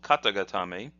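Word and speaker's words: 肩固め: that in a moment the hiragana is kata and then again got'em a kata means shoulder so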